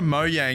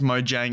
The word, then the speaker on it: Mojang: moving on to moyang now Mo Yang I'm actually pretty sure I'm pronouncing that correctly I don't think it's Mojang I think it's Mo Yang I'm at the moyang